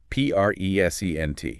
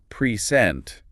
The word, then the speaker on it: present: But if you stress the second syllable present, it becomes a verb to give something or to introduce someone. Ah, present. Precent totally different, completely different meaning just from shifting the stress.